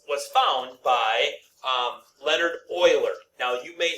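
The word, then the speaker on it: Euler: Okay, E was founder or was was found by um Leonard Oiler. Now, you may say to yourself, well, that's Ooler. Okay, but it's actually pronounced Oiler.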